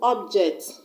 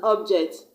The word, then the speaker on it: object: object obj is City when I use that word as a noun like pencil is an object phone is an object I'm gonna stress on the first level or be personal use it as a very I'm gonna stress on the second syllable J ect for example